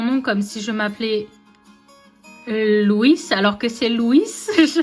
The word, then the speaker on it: Louis: Ah, il y a deux syllabes mais les français le prononcent en une syllabe.